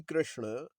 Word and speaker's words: कृष्ण: video please please please don't say कृष्ण और कृष्णा इट्स not Lord कृष्ण Lord कृष्णा don't say he Lord कृष्ण कृषण ण ण ण हैज to come out ण the letter ण is important कृषण इज नॉट कृष्णा कृष्णा not Hare कृष्णा